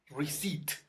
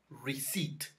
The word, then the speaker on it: receipt: And this one, actually, receipt. We say receipt. Receipt.